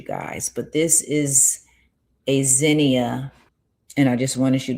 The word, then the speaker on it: Zinnia: This is a Zenia flower. This is how I pronounce it.